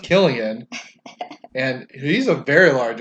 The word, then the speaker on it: Cillian: that I'll go ask Cillian Murphy his name's really pronounced Killian and he's a very